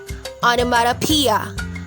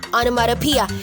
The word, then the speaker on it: onomatopoeia: from maria already it's onomatopoeia onomatopoeia notice that this word has six syllables